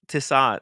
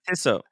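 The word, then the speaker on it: Tissot: I Mis I mispronounced Innovative and now I've mispronounced tsat tsat okay I didn't it's called tisat I always called it tiso which almost rhymes with timok Tim mov there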